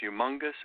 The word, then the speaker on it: Youmongus: bit of fun so we spell it the way it sounds y ou u mo ng us humongous ads humongous ad network